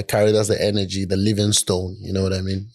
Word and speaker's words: Livingstone: well hear it uh hear people say Livingston I definitely thought that yeah it's the same you can pronounce it that way but I spell mine with the e at the end because that's what it